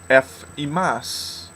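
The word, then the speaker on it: ἐφ' ὑμᾶς: Okay, in Greek, it is ephimas. Ephimas. And no, again, I'm using the modern Greek pronunciation here, not the Erasmian.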